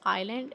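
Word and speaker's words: island: आइलैंड, this is आइलैंड, ऐसे silent in this.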